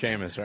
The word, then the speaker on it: Seamus: Seamus? Seamus. You do know that's San Tropez. I do now. That's typically pronounced Seamus, right? Trav dog. You roll. There's no H in there.